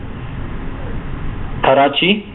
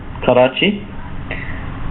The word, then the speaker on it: Karachi: the particular City it's a city in Pakistan Karachi that's how that's how you would pronounce it Karachi uh okay so uh this is a definite